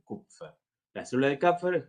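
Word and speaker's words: Kupffer: Sí, se escribe con K u p f. Sí, cupfer.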